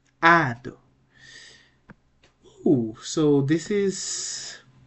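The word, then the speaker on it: ᾄδω: It's a two-syllable word, so the right pronunciation will be ado, ado.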